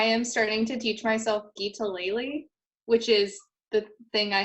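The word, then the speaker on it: guitalele: And then I am starting to teach myself Geetaleli, which is the thing I held up earlier.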